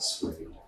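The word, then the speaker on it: SWDE: You might need to run some software that we provide, like the so-called SWADE, S-W-D-E, we all pronounce it SWADE.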